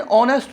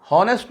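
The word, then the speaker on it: honest: ऑनेस्ट, ये देखें ही इज़ एन ऑनेस्ट person. यहाँ पे एच जो है वो साइलेंट है, हॉनेस्ट नहीं है, ये ऑनेस्ट है, ओ से शुरू हो रहा है।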